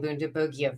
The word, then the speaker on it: Bundibugyo: It seems that the hard G team is winning out. So, against how I've pronounced this word since I first learned it from somebody who pronounced it with the soft G, I'm going to start saying Bundibugyo virus.